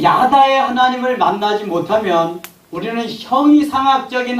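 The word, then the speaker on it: ידע: 이거 야다라고 읽습니다. 한번 따라서 읽어보세요. 야다. 야다.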